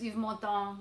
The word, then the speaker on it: Yves Montand: And she used to sing this song, and of course Yves Montand has the most famous version. And how you say it again? Montand. Yves Montand.